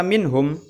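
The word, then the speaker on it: مِنْهُمْ: Ilham halqi Oh ya cara membacanya gimana yaitu dibaca dengan jelas nun sukun nnya minhum Jadi enggak boleh dengung Meong Ndak boleh tapi Minho kemudian disitu ada juga setelah kata minhum ada Man dimana disitu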